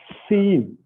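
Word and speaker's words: Sin: So if it is in the left hand, it is called seen. Okay, yeah, sit. Okay, if you see, look at the English word sit. How you pronounce it? How you pronounce it? Sit.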